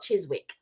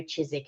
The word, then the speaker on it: Chiswick: today for honest burger oh nice chisik oh chisik not Chiswick I put sorry it's spelled Chiswick but it's chis I've never heard